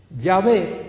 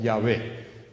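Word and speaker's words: Yahweh: muy parecida al nombre ya fue o ya ve como lo pronunciamos nosotros los judíos no lo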